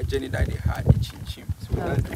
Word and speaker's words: Nkyinkyim: How do you say that? Nkyinkyim. What does Nkyinkyim mean? Nkyinkyim. Yeah, that's how you say it.